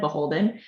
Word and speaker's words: BHLDN: So, Beholden, uh, which is spelled BHLDN, but said Beholden, um, is Anthropology's wedding brand, and we've been around since 2011.